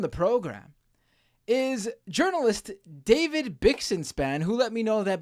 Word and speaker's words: Bixenspan: me today on the program is journalist David bixenspan who let me know that by the way